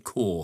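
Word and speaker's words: Kaur: I pronounced it cow. It's Ninda core.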